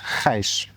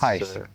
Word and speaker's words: Gijs: And correct me if I mispronounce your name, but Gijs. It's Gijs. It's Gijs. Very difficult to pronounce in almost every country.